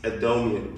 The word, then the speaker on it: Adomian: And I'm here with uh my guest James Adomian. Did I pronounce that right?